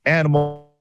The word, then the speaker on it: ANYmal: to bring up the animal system so it's a-n-y-m-a-l so it is pronounced as the animal this thing is amazing